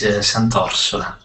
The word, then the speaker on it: Santorsola: Let's go to second Santorsola. I probably say that correctly. I mean terribly. Yes. But anyway. Don't worry, Chet. The correct pronunciation is Santorsola.